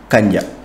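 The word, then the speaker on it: kànja: dire Kanya gombo Kanya écoutez bien la prononciation Kanya donc ma mère cuisine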